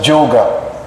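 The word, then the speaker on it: योग: Like yoga, they pronounce it as Joga. Especially we have a Bengali devotee student. Am I right? Joga, we say. So yoga, it's actually yoga.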